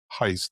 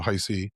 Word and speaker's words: Heist: Well, I think you know Manny Murphy obviously last year um you know Mallerie Heist not heisty did an amazing job obviously